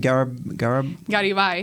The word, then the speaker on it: Garibay: Say his name for me again. Garibay. Garibay. Okay, good. But you can say it in English too.